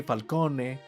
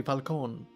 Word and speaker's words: Falcone: properly as gigante but when they say falcone they don't say falcon they say falcone and falone and it's falcone falcone or maroni which they